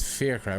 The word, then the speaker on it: Fiachra: it and spell it it's fair trial what does that mean actually does in Irish yeah it's an old Irish name fi a CH or